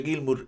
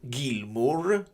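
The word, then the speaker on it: Gilmour: Ti confermo che qualsiasi anglosassone pronuncia Gilmur, Gilmur, Gilmu, eh, senza la R, con la R muta ovviamente, come more, more more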